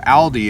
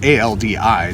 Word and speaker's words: Aldi: i call it aldi because it's a-l if you meet a guy named al how do you spell his name a-l right well the word